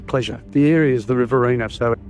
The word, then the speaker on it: Riverina: to the Victorian border I think I Mis mispronounced it I said Riviera didn't I yeah you did well M thank you